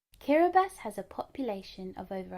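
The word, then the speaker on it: Kiribati: That's pronounced Kiraabas. Let's say it together one more time. Kiraabas. Kiraabas has a population of over 100,000.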